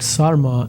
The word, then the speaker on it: sarma: That's named as a tavuk sarma, as a Turkish. Can you spell that for us?